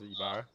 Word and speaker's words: Ibarra: Is that last name pronounced Ybarra? What's that? Ibarra. Mark Ibarra. Yeah. Ibarra? Mark, Yeah, it's Ibarra.